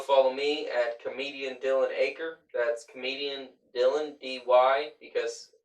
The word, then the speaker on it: Aicher: And then my last name is Aker. AICHER. Not you say it like an acre of land, but it's not spelled that way.